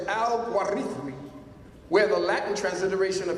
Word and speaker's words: al-Khwarizmi: The word al-Khwarizmi, transliterated al-Gorithmi, or al-Gwarizin, pronounced in the classical Arabic as al-Gwarithmi, where the Latin transliteration of his name, algorithm, is derived, hence algorithm.